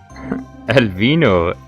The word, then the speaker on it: Alvin: Alvin, it's actually Alvin, like in American as well.